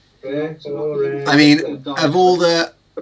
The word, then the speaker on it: Treforest: And I'm not even going to say where it is because I'll just get mocked for my pronunciation. It's Treforest, isn't it, bad? Treforest. Treforest.